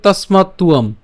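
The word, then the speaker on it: তস্মাত্ত্বম্: আছে, এটা হচ্ছে আমাদের, আমরা জানি যে অন্তস্থ ব, যার উচ্চারণটা কার মতো হয়? উয়োর মতো হয়।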